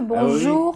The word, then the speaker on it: bonjour: Et en fin de mot, on l'entend un peu. Bonjour. Ah oui. Alors on l'entend, c'est léger, c'est bonjour.